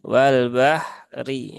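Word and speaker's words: وَالْبَحْرِ: ya Wal Bahri ya apabila waqaf ya maka rnya ya ini kan berarti ketika waqaf rnya berubah menjadi sukun ya Atau Mati maka dia secara rumus ya bukan lagi dilihat harakat kasrahnya Tetapi dia dilihat berhubungan dengan ini ya harakat fathah maka ketika waqaf dia rnya dibaca dengan tafkhim ya atau tebal ya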